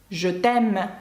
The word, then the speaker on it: je t'aime: «Je t'aime», «я тебе кохаю». Ви бачите, це не носовий, бо далі йде «е», і це голосна. «Je t'aime».